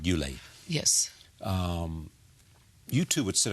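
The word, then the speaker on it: Ulay: It is said that there was, and I mentioned men in your life, I think I'm pronouncing this right, Yule.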